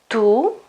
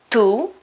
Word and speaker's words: tu: person singular to say tu tu tu okay it's pronounced to almost like the preposition to in English okay in that case